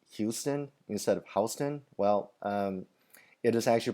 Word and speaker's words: Houston: doesn't that word look like Houston instead of Houston well it is actually pronounced Houston so just okay somebody asks now